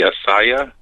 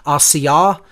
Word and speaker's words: Asiyah: Slightly off on the pronunciations, but I'm not going to, hold it to that, level of specificity. I would say if I were to give the correct pronunciations as closely as I know them to be, it's Asiyah, Yetzirah, Bria, and Atzilut.